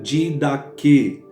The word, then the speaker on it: didaché: É a palavra didaquê, mas se escreve didaché com CH, tá bom?